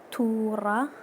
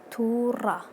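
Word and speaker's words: توڕە: Okay, angry in Kurdish is tura. Okay, it's like r, not r. Tura.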